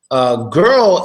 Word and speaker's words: girl: in the world squirrel girl is just like squirrel but what a G instead of a squat so girl girl how